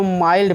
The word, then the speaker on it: mild: जैसे एग्जाम्पल देख लेते हैं, माइल्ड, ठीक है, MILD, तो इसको माइल्ड पढ़ेंगे हम, मिल्ड नहीं पढ़ेंगे, माइल्ड।